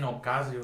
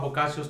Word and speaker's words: Boccaccio's: Boccaccios, I was saying Ocasio. No. It was at Boccaccio. Oh, it was called Boccaccio's 2000. Okay. So here it is, known by the locals as Boccaccios, pronounced Boccaccios.